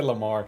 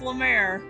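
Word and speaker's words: Lamare: got that right yes i'm gonna say lamar but i was like i better say mayor say lamar it's lemaire what are you doing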